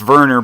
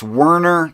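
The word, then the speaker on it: Werner: the the the German information theorist wner it's pronounced Verner but in English it's wner G git T yeah he was he was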